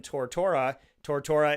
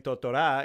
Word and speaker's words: Tortora: So I want to make sure that as Dan Tortora is the American way of saying my name. Tortora is how you say it in Italian.